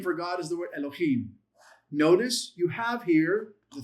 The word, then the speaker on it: Elohim: It's not Elohim, it's Elohim. Listen to my voice again. You hear the difference. It's not Elohim. It's Elohim. See how quickly you pronounce that E? It shortens it.